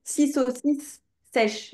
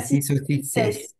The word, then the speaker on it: six saucisses sèches: Oui, sur cette phrase là, faut bien prononcer six saucisses sèches et pas si sèch c'est tu as bien le de saucisse. Si saucisses s six saucisses sèch saucisses sèches six saucisses sèches comme ça.